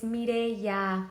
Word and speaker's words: Mireya: It's also been like 8 years and he still pronounces my name with like a Turkish accent. I'm like, it's Mireya.